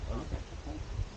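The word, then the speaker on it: ʻape: It's spelled A-P-E, pronounced api.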